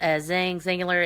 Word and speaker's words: Xyngular: So, Rachel, the product is called Zingular. It's spelled XYNGULAR.